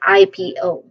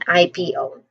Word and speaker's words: IPO: Say the first is I. That's a diphthong. I. P. P. There's a short E vowel sound here, and then another diphthong, which is O. O. So this part often has a slight emphasis. So you pronounce basically just, pronounce each letter clearly. So we say it as IPO.